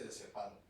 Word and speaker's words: diazepam: Le pongo lo más típico, el diazepam. Diazepam no lleva tilde. Y todo el mundo dice diazepam.